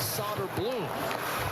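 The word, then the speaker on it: Söderblom: Knocked away from Soderblum. And here comes Noah Phil. Soderblam's older brother is the goalender for Chicago. His name is Arvid and he pronounces it solder bloom but this is so blown.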